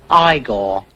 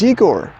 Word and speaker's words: Igor: played against eigor andreev now it's pronounced igore but they told me it was eigor well they were wrong